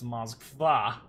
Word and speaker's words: Moskva: By the way, the emphasis on the last A, so it's Moskva.